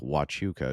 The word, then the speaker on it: Huachuca: Fort Huachuca, pronounced like Wachuca, is the home of the US military intelligence.